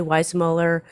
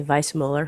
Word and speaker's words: Weissmuller: can remember that johnny weissmuller i should say vice muller because that's the correct way to pronounce his name although hollywood called him